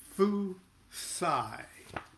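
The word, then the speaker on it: Fuhsi: So the first image was Fu Sai. Fusai. I got to get that straight for everybody. Fusai. And that's spelled F-U-H-S-I in English.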